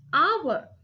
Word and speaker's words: hour: For example, hour. When we pronounce the word hour, the letter H is silent.